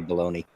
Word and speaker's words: bologna: In America, we call that baloney. Ah, okay. I know it's not spelled that way. Why is there not a Y on the end of it? Well, sometimes it is spelled with an EY, baloney, but it's bologna. We just say baloney.